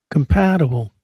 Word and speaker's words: compatible: Compatible. Second syllable.